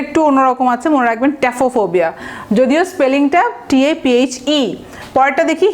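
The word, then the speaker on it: taphophobia: ট্যাফোফোবিয়া মানে রুটটা হচ্ছে ট্যাফো। দেখেন স্পেলিং কিন্তু PHE আছে, কিন্তু উচ্চারণটা কিছুটা ট্যাফো হবে।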